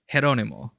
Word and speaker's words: Geronimo: Geronimo. In the Philippines, that's Jeronimo, which I guess would also be in Spain.